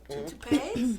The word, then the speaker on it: toupees: toupees? Toupees. Toupees. I said it wrong.